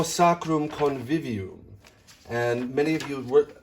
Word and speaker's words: sacrum: Next, we want to round the lips on the O. Sacrum, flip the R, and then pucker on